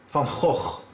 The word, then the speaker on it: van Gogh: The correct Dutch pronunciation is Vincent van Gogh.